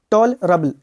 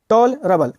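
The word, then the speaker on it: tolerable: टॉल रबल टॉल रबल बहुत लोग बोलते है टोले रेबल बोलता है भाई टॉलरेबल नहीं होता है टॉलरेबल होता है टी ओ यहां पे क्या है आपका ओ का साउंड दे रहा है ई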